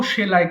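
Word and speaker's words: sew: পার্টেক পার্টুক পারটেকেন সো সেলাই করা এটাকে মিসপ্রোনাউন্সিং করি আমরা এটা সিউ বলি বাট it should be সো সো সেলাই করা সো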